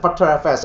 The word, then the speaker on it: Btrfs: They pronounce it Btrfs. Actually, we call it B3 file system.